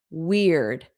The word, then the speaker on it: weird: Weird. Eared. So the end of the word sounds like ear.